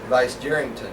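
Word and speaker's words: Vicegerington: Vice Jerrington, right. Jerrington, like Jerry, yeah.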